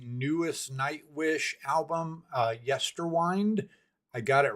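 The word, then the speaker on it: Yesterwynde: Uh we are going to continue our walk through the newest Night Wish album uh Yester Wind.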